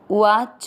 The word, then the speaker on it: उवाच: अ जू के ऊपर आधार अर, जो न में अ मिक्स करेंगे अर्जुन, उवाच में अ मिक्स करेंगे उवाच।